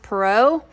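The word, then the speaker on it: Perrault: tales by Charles I think it's called is pronounced perau I looked it up how I pronounced it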